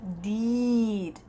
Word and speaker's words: deed: The long E, deed. And then the short E, dead.